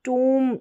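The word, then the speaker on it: tomb: को ओम और यहां लास्ट में टूम दे रखा है क्या टूम बी साइलेंट है टू में और यहां पर ओम करके साउंड आ रहा है ये अलग ही है।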